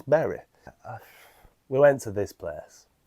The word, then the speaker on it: Bury: Bury, you tell me how it's pronounced cuz I keep getting told it's all right, it's Bury. No, it's Berry.